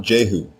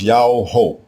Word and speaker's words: Jehu: The royal name everyone mispronounces today as Jehu is spelled with a single letter Yah as the prefix diminutive form. The king's name is not Jehu. It is Yao-ho, Yao-ho.